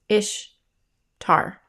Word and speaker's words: Ishtar: Semiramis became known as Ishtar, which is pronounced Ishtar, referred to as Ashtoreth or Asherah in scripture, and her moon egg became known as an Ishtar egg.